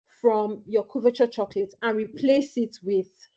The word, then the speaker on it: couverture: It's couverture, yes. You pronounced it well.